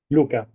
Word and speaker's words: Luca: How should I pronounce correct? It's Luca or Luca. Luka.